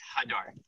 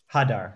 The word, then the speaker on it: Hadar: It's Hadar. Hadar. So emphasis on the first syllable.